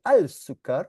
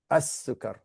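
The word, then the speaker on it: السكر: You don't say al-sukar, you say as-sukar.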